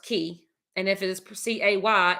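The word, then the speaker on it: cay: so people always ask do you say k or key okay so i did ask the driver of the boat when we went to golf's key um which i just produced that snorkel video this morning and he said that if it is spelled c-a-y-e it is pronounced key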